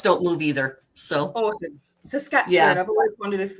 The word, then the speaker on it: Saskatchewan: Saskatchewan. I've always wondered if how to pronounce that properly. Sasquatch. Sort of like Sasquatch.